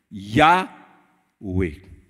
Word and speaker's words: Yahweh: Nous mettons, parce que l'alphabet hébreu et nazis consonne, vous avez des voyelles là-dedans pour prononcer. Une langue riche mais difficile. Yahweh.